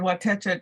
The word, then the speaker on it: Watecha: You said Watecha just right. That's the correct way to say it.